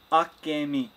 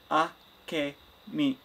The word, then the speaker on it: Akemi: Akemi. Akemi. No, I don't know where you're getting the J from, Mom. It's not Spanish.